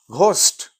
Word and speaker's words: ghost: यस, जैसे GH है, अभी अगर वर्ड लिखें GH, GHOST, that is घोस्ट. अब ये फा नहीं है यहाँ पे, अब ये फोस्ट नहीं पढ़ेंगे आप.